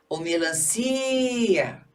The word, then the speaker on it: melancia: Melancia. Si. Ó o que eu estendi o si. Então é melancia a o si é a sílaba tônica, por isso melancia não tem acento.